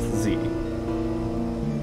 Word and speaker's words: Zee: captain on the vast z i'm not mispronouncing it it's literally called the z you are underneath the